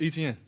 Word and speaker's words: Etienne: So I'm like man it's Etienne.